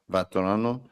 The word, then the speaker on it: Vatrano: uh then the other one uh Vol vatrano vatrano uh 22 V I said it right I